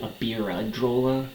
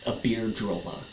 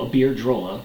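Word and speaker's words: Iberdrola: Spain based air drolla which I kept pronouncing wrong in my first video about it I kept saying Aira but it's a beard drolla so aard drolla Spain based company which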